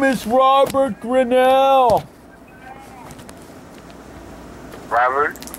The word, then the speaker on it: Grinnell: My first name is pronounced Robert, and my last name is pronounced Grinnell.